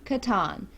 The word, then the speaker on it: Catan: know we understand that it is technically Catan but we're from West Virginia we have never heard of pronounce that way we've always heard pronounce Catan so that's what we went with okay okay thanks